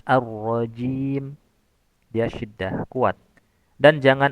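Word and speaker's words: الرجيم: Beberapa perkara yang harus diperhatikan ketika membaca kata arrajim yaitu sempurnakan sifat syiddah pada huruf jim. Jangan arrajim arrajim. Nah, tapi harus arrajim.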